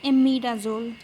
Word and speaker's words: imidazole: What we pronounce it as imidazole.